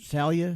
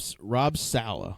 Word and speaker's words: Saleh: Under, so is it Salia? How you pronounce his name? Oh, Rob Saleh. Saleh.